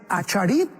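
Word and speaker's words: אחרית: Qué importante es Acharit en el hebreo, o Aharit, como se pronuncia, Yom.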